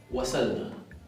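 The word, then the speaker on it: وصلنا: Bien, ahora borrar las dos de arriba y yo te digo que esa palabra se vocaliza wasalna. Esa sob acá queda como una S normal.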